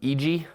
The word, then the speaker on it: IJI: And if you've been following my career for a little bit, you've heard me use the term EG before. It's spelled IJI.